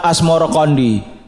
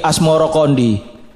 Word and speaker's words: Asmoroqondi: atau Maulana Ibrahim Asmoro sebutan itu mengikuti pengucapan lidah Jawa dalam melafalkan asmoroqondi yang kemudian berubah menjadi asmorokondi menurut babat Cirebon saya